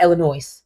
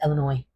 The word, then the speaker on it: Illinois: stay and it's not Illinois it's Illinois. Please please stop pronouncing the S.